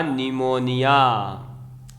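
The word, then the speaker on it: pneumonia: spelling जरूर याद रखें पीएम इसमें जो है वह साइलेंट होता है तो यह हो जाएगा निमोनिया हो कि किसी को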